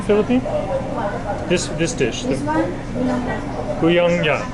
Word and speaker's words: Bulanglang: Bulanglang. Bulanglang.